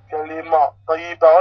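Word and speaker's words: كلمة طيبة: Regardez, on va remplacer tamarbota avec A. Alors, regardez bien. Kalma, taïba, kalima, taïba. Regardez les symboles. Et bien, pratiquement, ça nous donne la prononciation exacte, très proche du mot que vous avez vu écrit en arabe.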